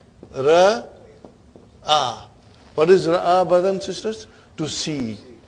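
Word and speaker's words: رأى: What is ra'a, brothers and sisters? To see. Now, I say ra'a. I say ah. Okay? I'm making the pronunciation of alif here. Ah.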